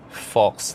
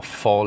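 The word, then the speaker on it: faux: It's a piece of hard plastic behind and then a layer of fox leather or fall leather, you know, they don't pronounce the X, on top here as well, the same material as this.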